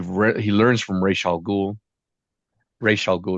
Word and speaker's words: Ra's al Ghul: Ra's al Ghul, it's the way it's pronounced, not Ra's al Ghul.